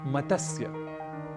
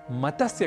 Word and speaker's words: मत्स्य: हम कर बैठते हैं क्योंकि त स और य ये तीनों ही व्यंजन वर्ण है और इनके मध्य कहीं भी अ या स्वर वर्ण नहीं है इसलिए मतस्य कहना तो अशुद्ध है हमें इसका उच्चारण करना चाहिए मत्स्य और संस्कृत में मत्स्य